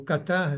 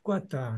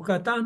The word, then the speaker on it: Qatar: que eh eh o Qatar não é não é a gente diz Qatar o Qatar aqui no Brasil a gente dizia antigamente Quatar né E aí a gente